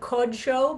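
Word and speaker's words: קדשו: Heichal Kodsho. Now, notice again, if the vowel under the kuf there, I pronounce it Kodsho because it is that special way of pronouncing it when it's a closed, unaccented syllable.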